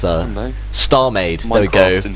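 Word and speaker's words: StarMade: Star Maid. It rhymes with maid.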